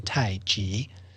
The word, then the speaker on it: Tai Chi: not Chi like energy it's pronounced with a J in Mandarin Tai G mhm g means it